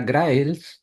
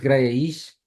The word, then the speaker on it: Graells: Hola, una pregunta difícil, porque yo pensaba que era Graels, tal como se escribe, Sí. pero hace algunos años me enteré que es Graells, esa es la pronunciación original en Cataluña. Así que yo siempre digo Graels y solamente en España digo Graells. Así que puedes decirlo como quieras, pero no como si fuese en inglés, que ese es como